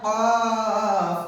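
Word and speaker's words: ق: কফ উচ্চারণ কেমন হবে কফ উচ্চারণ কেমন হবে কফ হলকের মাঝ হতে গলা চেপে আদায় হবে কফ হলকের মাঝ হতে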